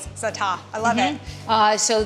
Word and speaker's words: za'atar: But you just don't you drop the R. Drop the R. And and you extend the A. Za'atar.